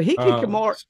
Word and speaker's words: hikikomori: In Japan, they even have a name for it called hikikomori. And Kara informs me that I almost get the pronunciation right. Oh, you got it. So hikikomori.